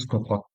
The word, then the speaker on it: pseudocode: Nah, tulisannya pseudocode, kita bacanya pseudocode.